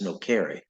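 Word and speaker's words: nocere: n o c re e which um and pronounced actually Latin is no car but uh it means to do harm so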